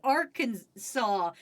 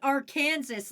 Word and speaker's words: Arkansas: thing where you're like, "This is Arkansas and not our Kansas like it's spelled." You know how it says our Kansas, but you guys are like, "No, no, that's Arkansas. We promise you."